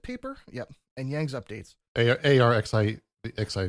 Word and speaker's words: arXiv: ARXIV. Oh, you literally like say it out phonetically? Okay.